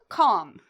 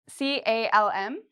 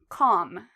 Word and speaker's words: calm: Well, we don't pronounce L after A, O, or U.